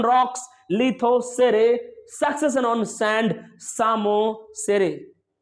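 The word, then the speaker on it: psammosere: अगर बोलूं succession on rocks, लिथोसेरे, succession on sand, सामोसेरे। ये पी साइलेंट है, ध्यान रहे।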